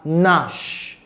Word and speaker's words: gnash: It's pronounced as gnash.